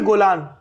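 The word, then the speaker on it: Golan: यहाँ पे हमारा इस तरफ हमारा गोलान हाइट्स आता है। गोलन की गोलान, दोनों प्रोनाउंसिएशन यूज होता है। इजरायली ज्यादातर गोलान कहते हैं इसको। हाँ, गोलन ना कह के गोलान।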